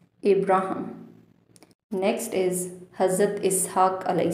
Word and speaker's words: Abraham: Abraham. Abraham.